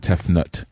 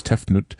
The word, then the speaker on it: Tefnut: sister is tefnut and tefnut uh some people pronounce it tefnut but it's tefnut uh represents moisture moisture in the air and